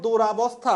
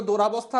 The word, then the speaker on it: দুরবস্থা: হস্যুকার ব্যবহার করতে হবে আর উচ্চারণটা হচ্ছে দূরবস্থা দোরাবস্থা না।